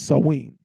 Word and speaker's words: Samhain: costume picked out good now the actual pronunciation is Celtic you swab and you're gonna see that the actual pronunciation of that word that Samhain the actual pronunciation is sawing sawing right yeah sawing you'll